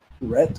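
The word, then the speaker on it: REAT: It's a Rhett, I think that's how you pronounce it as R E A T.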